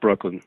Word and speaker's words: Brooklin: end no it's Brooklyn it's pronounced Brooklyn like Brooklyn New York and it's just that's